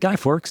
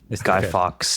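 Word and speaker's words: Guy Fawkes: worry you okay I love that is it guy Forks day or fox day how do you say his name it's a remember remember the 5th of November guy fox day for V for Vendetta right so great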